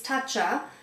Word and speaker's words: Tatcha: It's Tatcha. And uh I believe that's how you pronounce it.